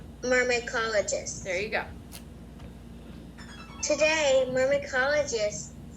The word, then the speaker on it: myrmecologists: So when you have YR at the beginning of a word, like consonant YR, that YR sounds like Mycologist. Okay, you're adding a lot of syllables. Mer, me, call, o, Myrmecologists.